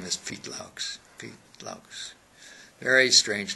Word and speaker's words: Loucks: my name is pete laughs pete longs very strange name because everybody doesn't know what i'm saying when i say pete laughs okay so i have to spell it l-o-u-c-k-s i think it's dutch